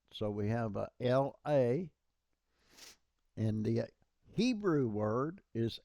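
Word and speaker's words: לא: But one of them is pronounced la and one of them is pronounced lo.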